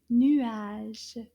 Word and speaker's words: nuage: And clouds in French is called des nuages. Can you say that? Nuage. Nuage. Combien de syllabes dans le mot nuage? Nuage. Deux syllabes. Nuage.